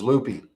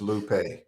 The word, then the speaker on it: Lupe: You know, I from Texas, and so it was Lupe, and she was like, "Bro, it's Lupe."